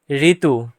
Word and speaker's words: ঋতু: তারপরে রি বর্ণের উচ্চারণ রি এর মতো, মানে রি বর্ণ উচ্চারণ করার সময় রি হবে, নিচে দেখানো হলো। ঋতু ঋতু।